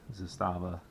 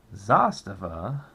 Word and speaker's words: Zastava: would recommend the the Zastava uh zasta God I keep saying it wrong Zastava zpap M90 PS just